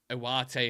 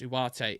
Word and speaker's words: Ugarte: Nick, where exactly are you getting the W when you pronounce Ugarte? It's how South American journalists pronounce it.